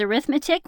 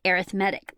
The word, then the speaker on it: arithmetic: you see here is arithmetic whenever you use it as a noun but if you use it as an adjective you pronounce it arithmetic so we're studying arithmetic